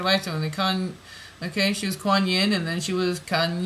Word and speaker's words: Kuan Yin: Kind of like yin, okay? Yang, yin yang, okay? Kan yin. Kuan Yin, okay, sounds very much like Kuan Yin, Kan Yin, okay, because we come